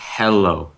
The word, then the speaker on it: Heello: That's pronounced hello.